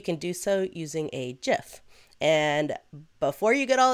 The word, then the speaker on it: GIF: do so using a GIF. And before you get all internet crazy on me, it's actually supposed to be pronounced GIF, not GIF, from the mouth of the creator himself.